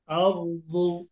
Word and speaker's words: الأرض: أرض، أرض، أرض. র মোটা হবে। أرض أرض। أرض. أرض দদ মোটা, দুই মোটা হবে একসঙ্গে এসেছে, এই জন্য র কে মোটা করে দদে উচ্চারণ করতে হবে।